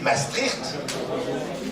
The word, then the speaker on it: Maastricht: Les banques centrales, avant le traité de Maastricht, hein, c'est comme ça qu'il faut prononcer, c'est la prononciation des Pays-Bas, puisque ça se trouve dans les Pays-Bas.